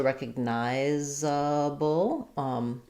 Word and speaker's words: recognizable: You're just going to have, this is now going to be unstressed, so I'll change to nigh is now going to be stressed. Nigh, and then we have zable, syllabic L there at the end.